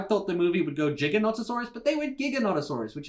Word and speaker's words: Giganotosaurus: for me was that they called it a gigantosaurus right the big massive carnivore the you know the biggest that the world has ever seen but i'm pretty sure it's pronounced giganotosaurus as you can see in a lot of